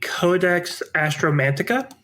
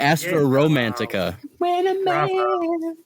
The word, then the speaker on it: Codex Astromantica: that all about yeah it's the Codex astromantica yeah I know for a fact I pronounced it correctly and if you think I'm wrong you're wrong I thought it was the Astra Romantica that's the uh romance